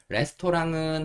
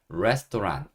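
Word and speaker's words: restaurant: 뜻은 그냥 식당이에요 그리고 레스토랑은 한국 사람들이 발음하는 방법인 거고 원래 정식으로 발음하는 거는 rest 레스 이렇게 반음을 하셔야 됩니다 어 일단 영어 단어를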